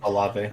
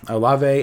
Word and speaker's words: Olave: Or I think you could see probably, I don't know how to pronounce this exactly. Is it Olave? He's a wide receiver. It's Olave. Yeah, Olave.